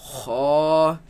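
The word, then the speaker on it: خ: kha, Raise the back of the tongue. Kha, kha, kha. kha. It is incorrect to pronounce this as kha. That is incorrect. It should be heavy.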